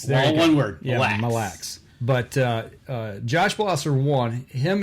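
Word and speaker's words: Mille Lacs: In the tournament over on Millilax? Okay, you know what? Sure, if you want to pronounce it that way.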